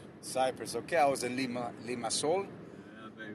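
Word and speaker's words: Limassol: I was in Lima Sol. Yeah, baby. Sol in Spanish means sun, but you know, they spell it like soul, right?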